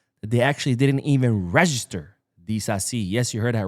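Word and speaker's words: Disasi: Now, the second player that has offered his services to Barcelona is no other than Axel Dasi. I think that's how you say it. Dazi. He is French after all.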